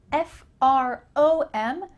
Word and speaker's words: from: break down this pronunciation I'm from fr om sounds like a you hear from I'm from plus your